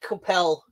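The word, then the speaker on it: Coipel: I pronounced it Coppel until anyone's corrected me, and no one has so far. So I'll accept your pronunciation.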